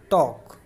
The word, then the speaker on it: talk: चलिए अगला देखते हैं जिसमें ए वोवेल का यूज़ किया गया है TALK टॉक। इसमें प्यारे बच्चों ए का साउंड ओ के तरह निकल रहा है और एल इसमें साइलेंट है।